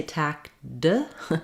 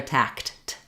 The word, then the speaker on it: tacked: my voice back on I don't say tack D but rather tact that e the letters e d just equal the T sound um so other examples